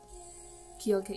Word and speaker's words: 기억할게: I also like when she does the 기억할게. Did I say it right? 기억할게, yeah, 기억할게.